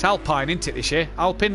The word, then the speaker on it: Alpine: not right now it's alpine into this year i'll pin alpine yeah yeah i'll point yeah yeah or alpene whichever way you want to pronounce it um yeah yeah don't